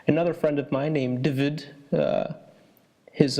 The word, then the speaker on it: David: My name is Cornelius, and today I'll be speaking with Hoodie and David. Am I pronouncing that right? No, it's actually David.